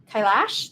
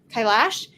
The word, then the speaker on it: Kailash: And here, let's move on to a card by I always say her name wrong. Like Kailash. There we go. Kailash.